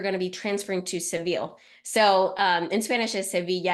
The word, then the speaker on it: Seville: the 21st, they're going to be transferring to Seville. So in Spanish is Sevilla, and I was talking to Stephanie about it. I was like, how do you say it in English again? So it's Seville, but anyway, if you speak Spanish, it's Sevilla.